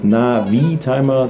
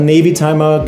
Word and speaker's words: Navitimer: nah the timer and why do I pronounce it navi timer this has of course a purpose it's not a Navy timer guys that watch has